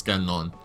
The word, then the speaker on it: Gagnon: No, it's not Gagne, it's Gagnon.